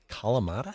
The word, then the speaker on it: Kalamata: Kalamata? Look at me just expose you to so much. Kalamata has 4 syllables.